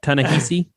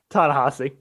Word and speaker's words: Ta-Nehisi: Tanahasi. Tanahasi. Tanahasi. Close though. It's not spelled that way, but it's pronounced that way.